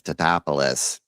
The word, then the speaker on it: Tatopoulos: It's Tatopoulos.